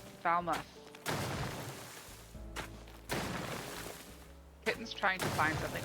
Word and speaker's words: Falmouth: Much like muff, Falmouth. Falmouth.